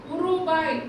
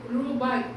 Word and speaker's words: ரூபாய்: உருபாய் அப்படின்னு படிக்கக்கூடாது இதையும் ரூபாய் உ சைலன்ட் ரயில் அதுக்கு முன்னாடி இ சேர்க்கணும்.